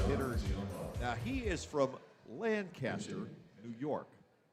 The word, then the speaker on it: Lancaster: Now, he is from Lancaster, New York. That's the way they pronounce it in the Buffalo suburbs. We could, in Lancaster, Pennsylvania, think of that as the heathen way, but it's just their preference.